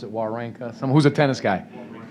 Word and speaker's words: Wawrinka: It's the quote we talk about often, the famous tennis player Stan Wawrinka, how do you pronounce it, Wawrinka? Someone who's a tennis guy. Wawrinka.